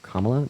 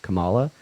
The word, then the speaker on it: Kamala: for Trump and also please either pronounce KL Harris's name right by saying kamla not Kamala or just har so